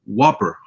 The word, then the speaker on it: WOPR: It's called the Whopper, which is spelled WOPR, which means War Operation Plan Response.